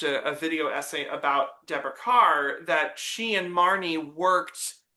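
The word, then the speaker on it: Kerr: Carr rhymes with star.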